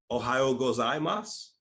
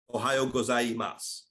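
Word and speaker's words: おはようございます: I gotta learn that Ohio gozan Moss Ohio gozaimasu Ohio gozaimasu Ohio like the state right right and ends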